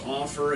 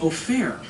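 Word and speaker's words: Ofer: go oh he sells offer it's a fake name it's not his his real name is o'fair but you can't pronounce it well when you're a dumb American so yeah his actual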